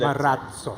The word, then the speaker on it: Marazzo: and we have a D sound coming just before Z. Marazzo. So Marazzo.